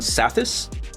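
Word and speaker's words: Psathas: Uh part four is Kinetic featuring Leviathan by John Satis. It's got the silent P like Flugerville.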